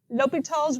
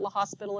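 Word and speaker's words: L'Hôpital: using algebra okay so here is lal's Rule here's how you spell it French like I guess you can call it La hospital if you want to if you want to sound uncultured La hospital all right suppose that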